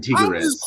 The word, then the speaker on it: Tigres: and they don't mind her saying Tigres yeah almost like Tigger off of Winnie the Pooh that was the enunciated